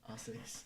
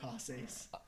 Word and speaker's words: haces: Haces. You say haces. Jose's too? The H is silent.